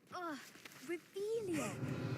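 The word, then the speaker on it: Relashio: That hasn't reelious. Saying it wrong. Reelious. Much better.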